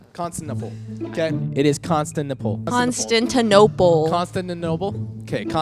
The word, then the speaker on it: Constantinople: Constantinople. Constantinople. Okay. Like Barnes and Noble.